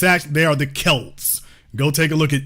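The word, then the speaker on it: Celts: says Celtic but it's actually they are the Kelts go take a look at any documentary about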